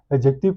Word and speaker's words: adjective: ठीक है, बहुत से लोग इसको एडजेक्टिव पढ़ते हैं, बट डी is silent here. We will call it नॉट एडजेक्टिव्स, we will call it एडजेक्टिव्स।